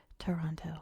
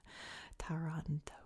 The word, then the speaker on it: Taranto: in the ionian sea it's really hard not to say Toronto like Toronto Canada taranto but basilicata is not